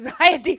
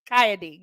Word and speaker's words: XiyA D: ever calling you XiyA D forever. And I'm like, okay, You're wait, fine. XiyA D, got it.